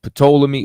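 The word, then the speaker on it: Ptolemy: once again that was patola me well it's really told me you know what I'm saying the p is silent but it's told to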